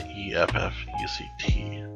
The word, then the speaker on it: effect: The AF-FECT and the EFF-ECT. Effect and effect. And if you say it slowly, you can hear the difference, but basically it's just